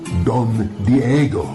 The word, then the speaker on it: Don Diego: See, I think it enhances the romantic Spaniard nature of my character, and my name is pronounced Don Diego.